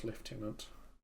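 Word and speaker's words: lieutenant: my friend fulfill your contract kill the listener pronounce leftenant uh we're going to defend alisan garag you're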